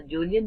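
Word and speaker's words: Kjølen: And you have the Julian Mountains here. K is silent in this. You have the Julian Mountains, and these mountains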